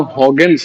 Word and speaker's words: Huygens: Wavefront actually इसका नाम हॉग्स है। ठीक है? हम हजेंस बोलते हैं। इसका प्रोनाउंसिएशन बुक में लिखा हुआ है हॉग्स थ्योरी। ठीक है? एक्चुअली ये डच साइंटिस्ट है। तो डच में इसको हॉग्स बोलते हैं।